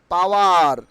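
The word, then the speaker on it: power: ফেন্সল ফেন্সল okay not পাওয়ার আজকের থেকে আমরা পাওয়ার বলবো না কি বলবো পাওয়া পাওয়া পাওয়ার উইল বি প্রোনাউন্স পাওয়া পাওয়া আর উইল বি সাইলেন্ট হেয়ার আমি আর কে একটু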